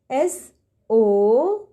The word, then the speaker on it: soap: S-O-A-P. S-O-A-P. Soap. Yes, kids, in the word soap, we will just pronounce the first vowel, that is O. A will remain silent.